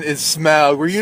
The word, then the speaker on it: Smaug: the correct pronunciation is smog were you not paying attention during the three hours and I was a kid I thought smug that's funny because it's Smokey like a dragon